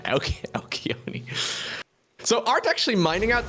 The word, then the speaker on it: Alcyone: I mean, to my understanding, like Alcyone is the Greek pronunciation. Alcyone.